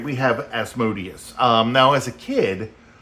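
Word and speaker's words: Asmodeus: think we were saying asmodus right because if you look at you know Amadeus it's like the same thing but just with an s in it so that's how we thought it was um pronounced but later on we found out that it was as modus um we have uh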